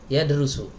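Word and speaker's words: يَدْرُسُ: Tapi kalau belajar yadrusu. Ada dua cara baca. Tergantung niatnya pengen apa nih, mau belajar apa mau ngajar.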